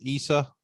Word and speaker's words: Isa: The name of your guys' ranch is Isa. Is that how you say it? Yeah, it's Isa, short for my sister's name, Isabel, and Okay.